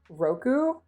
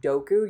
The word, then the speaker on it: roku: them, but I think so for six, which is Roku. Uh, if you you have to So, with that one, if you accidentally pronounce it like DKU, you're saying I think poison instead of Oh, yep. Opai. Oppai. That's a good one. Uh, I think DKU is poison instead of six.